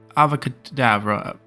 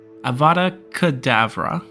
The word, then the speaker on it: Avada Kedavra: useful and here's the thing killing one with avocado Avada Kedavra okay we can say it right uh we'll